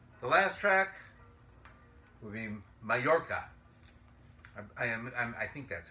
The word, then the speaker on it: Majorca: The last track will be Majorca. I think that's how it's pronounced.